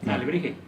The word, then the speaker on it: alebrije: Alebrije.